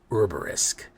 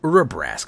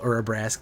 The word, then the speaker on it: Urabrask: Urbarisk. Yes, Urabrask.